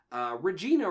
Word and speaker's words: Regina: movie where he's like Regina rhymes with fun he's talking about like for Gina's Regina Regina like vagina yes yes he did